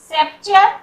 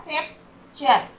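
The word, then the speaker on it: sceptre: फिर सेप्चर मतलब राजदंड, यहाँ पर भी सी का साउंड नहीं हो रहा है। सेप्चर, तो यहाँ पर सी हमारा साइलेंट है।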